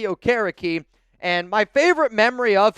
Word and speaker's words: Okereke: I can never pronounce this name right, so bear with me here a little bit. Bobby Okereke. I've also heard Bobby Okereke, but I believe it's Bobby Okereke.